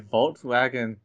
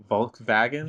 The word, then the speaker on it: Volkswagen: pronounce their W's like V's. Germans do. Mhm. All right, moving on. So, is Volkswagen Volkswagen? Volkswagen.